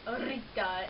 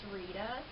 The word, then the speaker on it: Rita: And by the way, her name is not pronounced Rita, it's Rita.